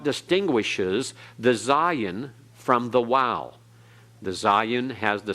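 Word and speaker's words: Waw: Hebrew Hebraic and so the sound is like in WoW or in modern Hebrew it has the sound of a V like in that okay notice that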